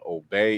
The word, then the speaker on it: Obey: my name is last name is OB even though it's spelled obey is little kind of confusing